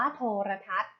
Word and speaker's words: โทรทัศน์: คำ ว่า โทรทัศน์ ค่ะ โทรทัศน์ อ่าน ว่า โทรทัศน์ โทรทัศน์ ประกอบ ไป ด้วย สระ โอ ทหาร เรือ เพราะ ทหาร ไม่ หัน อากาศ เขา ศาลา นอ หนู การันต์ ค่ะ โทรทัศน์ นะ คะ